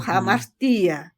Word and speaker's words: hamartia: griega para pecados es amartia con h o hamartia algunos pronuncian jamara es pecados y Qué significa